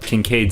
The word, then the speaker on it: Kincaid: I actually don't know how to pronounce the name, but Kincaid seems like it'd be normal.